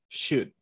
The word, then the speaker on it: should: let's see remember shoot we do not pronounce the l should okay i should do